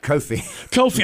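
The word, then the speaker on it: Kofi: And Coffi, did I say, is it Coffi? Or is it Coffi? Coffi.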